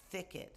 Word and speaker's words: thicket: Thicket. That's going to be hard for many of my second language speakers. That TH. Notice how thicket, I have to stick my tongue out to get that sound.